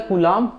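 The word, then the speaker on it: coulomb: ठीक है यहां पर होता है कुलम स्पेलिंग पे मत जाएगा सी से दिनो करते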